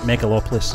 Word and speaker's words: Megalopolis: how to say it mega meg megalopolis megalopolis is that how you're saying that that's right i get metropolis stuck in my head so i'm trying to say it that way megalopolis megalopolis i'm glad we'll